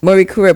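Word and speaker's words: Marie Curie: Um we didn't say this uh before but uh from 20 21 to 2023 and pronounce this for me you held a Marie um Kuri yes Marie Kura post-doctoral fellowship at uh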